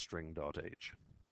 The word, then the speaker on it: string.h: It is now called ‘cstring,’ And previously it was call 'string.h' [Pronounced String dot H]